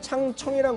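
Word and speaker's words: 长城: 여기서 창청이란 거는 뭐냐면 만리장성의 장성을 이제 중국 발음으로 창청이라고 있는 거를 꼭 기억하셔야 될 것 같아요.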